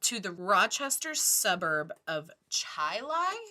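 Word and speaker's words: Chili: the Rochester suburb of Chai Lai it's spelled Chile c-h-i-l-i which was also a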